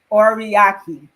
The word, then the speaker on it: Oriaki: Oriaki. Did I say it right? You said it perfect.